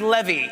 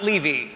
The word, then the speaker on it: Levy: it goes well tonight my name is pronounced Levy not Levy and if things go